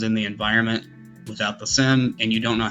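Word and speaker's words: SIEM: It's pronounced SIM, like a SIM card in a phone.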